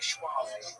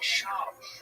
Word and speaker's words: Schwab: Don't say Schwab. I'm saying it wrong. Yes, it's Brendan Schwab. It's a German name.